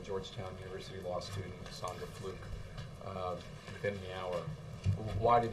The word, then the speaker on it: Fluke: The president called Georgetown University law student Sandra Fluke, I think is actually how you pronounce it, because he wanted to offer his support to her.